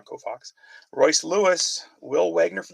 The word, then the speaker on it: Koufax: Hank Aaron, Sandy Koufax. I said it wrong. Koufax.